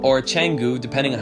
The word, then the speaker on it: Canggu: Now, number 2 on the list is a place called Canggu, and Canggu, or Canggu, depending on how you want to pronounce it, is definitely one of my most favorite developed areas in Bali.